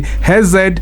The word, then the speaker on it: Hesed: How does he said, no, it's HESED actually, it's pronounced it.